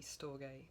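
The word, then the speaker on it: storge: Now, sto I'm just going to just so you know how to spell it. S t o r ge. Stoay.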